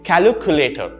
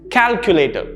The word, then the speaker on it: calculator: commonly mispronounced word calculator i've heard a lot of people say calculator right where they add another syllable oh there and that makes it incorrect calculator so knowing that it's